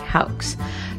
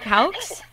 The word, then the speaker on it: Houx: Tarek Houx? Is that how you say the last name too, Houx? Yeah, Houx, yeah.